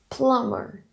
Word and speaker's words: plumber: Plumber. Remember, B is silent after N.